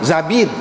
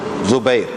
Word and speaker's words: Zubair: Ada juga setengah-setengah ulama kata Zabir, bukan Zubair dah, Zabir. Tetapi hak masyhurnya Zubair.